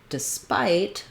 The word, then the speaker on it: despite: relief and rest then when it comes to despite we have second syllable stress and now we do have that um i saying the i diphthong which follows the typical